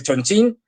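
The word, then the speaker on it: Chongqing: sido a través de Chonchín, escrito Chonquín. Yo sé que lo de Chonchín suena muy de coña, pero es que es así como se pronuncia.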